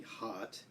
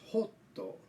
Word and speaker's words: hot: So for example, the word hot, H-O-T, hot, in Japanese is pronounced hotto, hot. And so I have Japanese practice this short O vowel sound, which is A, and practice, for example, hot.